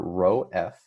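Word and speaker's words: ρ: So force of buoyancy is equal to the density of our fluid, our rho F. This is how you pronounce this guy right here, right?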